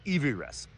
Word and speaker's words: Everest: It should be called Evy Rest.